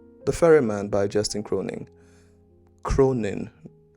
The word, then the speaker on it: Cronin: ferryman by Justin Cronin Cronin I think I pronounced it with a g at the end and there is no G um there should be